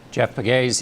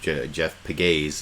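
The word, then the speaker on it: Jeff Pegues: shooting congregants today hoped to reclaim that feeling Jeff begays in Charles oh I guess I mispronounced my name Jeff pigais is how you pronounce uh the name of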